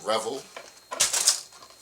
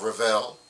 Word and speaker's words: Revell: of these folks uh this is from revel or revell depending upon how you want to pronounce that and this is the